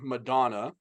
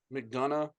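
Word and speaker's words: McDonagh: Dominic Mysterio, and JD Madonna. Is that how you say his name? Madonna? McDonough. It's like we don't have the Big Mac, we have the Big Mick.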